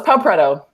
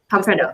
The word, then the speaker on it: Pau Preto: Is that how you pronounce your name? Pretty close. Pau Preto. Pau Preto. Okay. Preto. Yep.